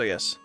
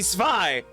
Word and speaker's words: Zwei: say the dog's name is Y when it should be Zwei. But they do pronounce it Y, I think. Yeah, it should be Zwei is the point, not Zwei.